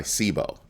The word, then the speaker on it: Cboe: CBO no not CBOE by sibo that's that's the proper pronunciation I file it through